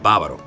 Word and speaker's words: Bávaro: It's called Bávaro. Yo vivo en Bávaro. Not Bávaro, because sometimes Dominicans will say it wrong. B-A-B-R-O. It's Bávaro. It's not Bavaro, Bavario, Bavaro.